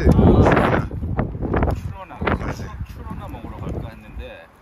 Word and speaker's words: Trona: T 발음이 T급 발음이 아니라 뭐죠? 치옷 발음이 되잖아요. 치가 돼, 치. 추러나. 추러나 먹으러 갈까 했는데. 아, 추러나.